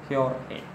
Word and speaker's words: Jorge: Because G is basically preceded by E, so it becomes H. And the other G is preceded by E again. So it becomes H. That is why we pronounce it Jorge.